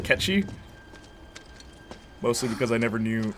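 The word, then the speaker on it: Cait Sith: but hey guys and push still call him kate says but i'll use the proper pronunciation catchy mostly because i never knew what it was until now yeah catchy that's how it it's like gaelic i think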